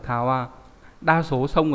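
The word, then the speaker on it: 川: Ông cư đọc là kawa. Ví dụ kawa là sông, vậy các bạn thấy giống chữ xuyên đúng không? Chữ xuyên này. Đây. Đấy, cũng là kawa.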